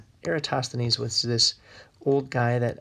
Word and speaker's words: Eratosthenes: like let's see here spelled like error um toss let's see here era toss the knees that's just how you